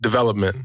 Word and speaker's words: DVLPMNT: Development. Yeah. But it's spelled.